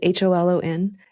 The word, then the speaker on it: Holon: It's spelled HOLON.